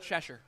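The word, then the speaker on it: Chestervilleshire: i r e I will tell you we pronounce it cheser um the the pubs opened up in England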